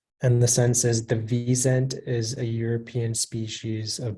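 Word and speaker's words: wisent: uh can I please have all the please pronunciation is visent it's a noun and it's from German it's it means a European bison also called Al rocks and the sense is the vzent is a European species of bison the reason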